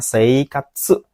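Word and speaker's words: 生活: Minasang kurasiru itu maknanya sama dengan nomor dua desne yaitu seikatsu ini bacanya seikatsu seikatsu artinya hidup sama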